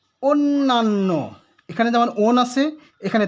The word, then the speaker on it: অন্য: আর যদি ভাত অর্থ না হয়ে অপর বা ভিন্ন বা পর অর্থ হয়, তখন সেই শব্দটির উচ্চারণ হবে অন্য। অন্য, অথচ আমরা বলি অন্ন। অন্য উচ্চারণ এটি ভুল হবে, বলতে হবে অন্য।